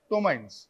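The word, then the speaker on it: ptomaine: carbon dioxide and something called as tomin p is silent mines so what are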